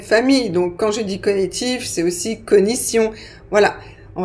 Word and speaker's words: cognitif: Parce que la prononciation officielle, c'est cognitif. Donc, si vous cherchez dans les dictionnaires, vous trouverez cognitif. Mais je dois vous dire que statistiquement, il y a beaucoup plus de personnes qui prononcent cognitif.